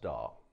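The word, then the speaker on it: DAW: a digital audio workstation that's abbreviated as d-a-w and pronounced doll if this stuff already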